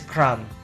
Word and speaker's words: crumb: like the first is cram. Okay, so the b sound is omitted or not pronounced, become cram.